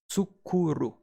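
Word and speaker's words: 作る: To make or to produce is pronounced as tsukuru. And again, a good sentence for remembering tsukuru, for to make or to produce, is I made some zucchini pasta.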